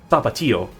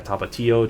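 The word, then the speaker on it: Tapatío: There was the other one, Tapatio. Yeah, Tapatio, Cholula. Is it Cholula? I feel like I'm pronouncing that wrong.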